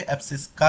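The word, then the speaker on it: abscissa: Distance को हम बोलेंगे एब्सिस्सा, एब्सिस्सा। या फिर जो भी प्रोनाउंसिएशन आप करते हो कि एब्सिस्का, कहीं कोई कोई बोलता है एब्सिस्सा, कोई बोलता है, कोई फर्क नहीं पड़ता।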